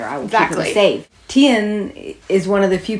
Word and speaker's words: Tien: And Tien, how do you pronounce it? Tien.